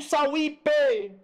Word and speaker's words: Sauípe: Costa do Sauípe. Olha aqui, ó. Vamos separar. Sauípe. Sauípe. Vem comigo, veja. Ó, veja aqui, ó. Considerando a palavra Sauípe na propaganda, é correto afirmar que... Vamos lá na palavra Sauípe.